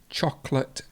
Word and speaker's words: chocolate: means the main one chocolate very common mistake lots of people say chocolate chocolate but it's actually you remove a syllable chocolate so we remove this all together so it would be chocolate chocolate and we've got the